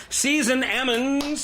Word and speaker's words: Season Ammons: We got a special guest in the studio with me right now, Season Ammons.